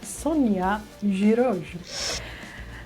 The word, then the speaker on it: Szonja Zsiros: Uh, and that very special guest is, as I have just learned how to pronounce the name, Sonia Giro.